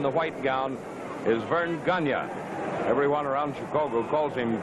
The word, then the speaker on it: Gagne: his back to us his name is spelled g-a-g-n-e ganya everyone here insists on calling it gagne I don't know why but it's a French name ganya well that flip of